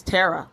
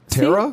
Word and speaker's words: Tara: Her name is Tara, but I've been calling her Tara for years. Her name is Tara. See? No, her real name is Tara. Tara?